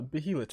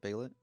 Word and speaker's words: Behelit: right so we learned what the uh behelit is a little bit it's yeah no no no you said it wrong bailet oh my my I'm